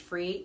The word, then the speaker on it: Fre: It's called, I think it's just pronounced Free, F-R-E.